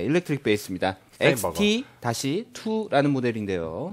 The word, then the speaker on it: Steinberger: 스테인버그. XT-2라는 모델인데요. 네, 스테인버그랑 스테인버그랑 헷갈리시면 안 되는 게 스테인버그는 네. 큐베이스 만드는 회사고요. 그렇죠. 소프트웨어 만드는 회사고요. 예. 스테인버그. 예, 스테인버그입니다. 햄버거 할 때 버거입니다. 스펠링도. 그래서 헤드리스 기타에 대한 노하우의 집결체.